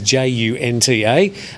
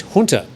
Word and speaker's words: junta: english but i think most people would tend to sound the initial j as in just political commentators and news readers however sometimes will pronounce it as hunter well the correct pronunciation